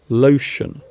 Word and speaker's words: lotion: Lotion. Lotion. So you can see there the second syllable, shun. Lotion. Lotion. If you are going to